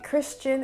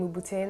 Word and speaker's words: Christian Louboutin: how many times i've heard this name being mispronounced so the first name the n in christian in french it's silent so it's christian christian